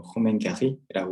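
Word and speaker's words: Romain Gary: 일단 그 작가가 로맹가리라는 사람이죠. 프랑스어로 읽으면 뭐 호맹가리라고 읽겠지만, 이 작품의 굉장히 독특한 점은 그런 거죠.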